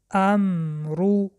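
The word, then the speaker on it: أَمْرُ: در اینجا در وقت خواندن احتیاط کنید که قلقله نشود، یعنی که امرو نخوانید. در وقت تلفظ میم لبها را تیز نکشایید و طرز درستش این است: امرو.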